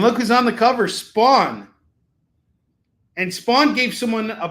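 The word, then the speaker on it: Spahwn: So, I created my own version of um Spawn, and it's S P A H. There's a silent H in there, WN. And it's kind of like Shawn, but Spawn, you get it, you know.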